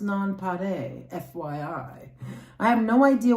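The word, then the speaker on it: nonpareil: It's a French word and is pronounced nonpare.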